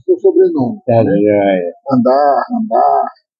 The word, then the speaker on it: Handar: Depois pedir que você explique qual é a pronúncia do seu sobrenome. Tá, Né? joia. Andar.